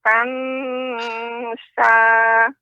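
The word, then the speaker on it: تَنْسَىٰ: Kemudian fala tansa ikhfa ya tansa dia pengucapannya samar, lidah berada di tengah-tengah, lidah tidak nempel ke langit-langit, bukan tansa, ini kurang tepat. Tansa, tansa. Silakan Nek diulang kembali Nek.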